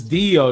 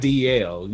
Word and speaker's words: Dio: hold on right there it's dio not dl you you no i